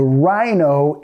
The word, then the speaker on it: rhino: Aunque esta palabra parece rhino, algo así, lo vamos a pronunciar rhino. ¿Ok? Tienen la H muda ahí. The rhino is very big.